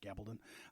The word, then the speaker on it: Gabaldon: uh Diel G Gabaldon I think it's pronounced Gabon uh describes these people